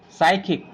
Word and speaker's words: psychic: sudo psychiatrist what do we read it psychiatrist psychic psychology psychotic and SAAM now move on to the next silent letter that is N and will be silent